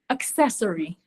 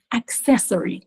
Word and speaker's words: accessory: a C Sound but this word has a c you have to pronounce the k it's not practice it